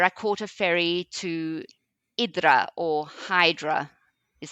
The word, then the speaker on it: Hydra: caught a fery to idra or Hydra is how it's spelled h yd r a so Hydra which is how I think most English speakers will pronounce it is an interesting little